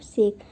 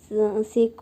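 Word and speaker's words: sake: सा is pronounced like फा इन father and के मतलब राइम्स विथ वे इसका जो जापानी में नाम है, इसका नाम फावे है।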